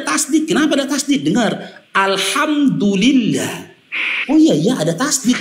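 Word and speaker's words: الحمد لله: Di situ ada lam tasjid atau lam syamsiah. Dulillah. Bukan dulah. Tapi dulillah. Bukan dulila.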